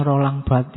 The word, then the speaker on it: Barthes: Dulu ada kipernya MU yang legendaris, Fabien Barthez, kalian bacanya kan. Harusnya enggak, tesnya jangan sampai bunyi.